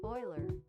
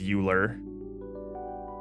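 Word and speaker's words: Euler: want to hear it Oiler Oiler Oiler Oiler yeah it's Oiler I think I think it's the the word is begging you to pronounce it as uler but Oiler Oiler okay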